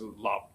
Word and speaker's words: 腊: 莫笑农家腊酒浑， Perfect match the first line, and the character la is pronounced as lab in Middle Chinese and Cantonese.